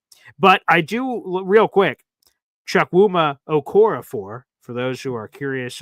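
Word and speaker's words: Chukwuma Okorafor: But I do, real quick, Chuck Wuma Okorafor, for those who are curious on how to pronounce it.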